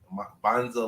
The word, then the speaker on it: Mbanza: can find him at Bonza law uh m is silent so it's m b